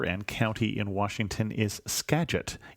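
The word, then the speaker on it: Skagit: county in Washington is scet even though it's spelled with a G it's pronounced with a soft G Robin said otherwise great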